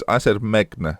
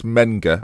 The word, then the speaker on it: Menga: Now I said Megna quite a lot recently. It's Menga. I know it's Menga.